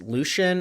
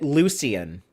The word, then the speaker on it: Lucien: Eternal is asking us Lucian or Lucien. Uh, the name is pronounced both ways. our demonic goatman character here. But he does say it Lucien.